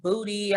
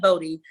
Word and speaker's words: Bodhi: I get called body, I get called booty, I get called it's everything but Bodhi.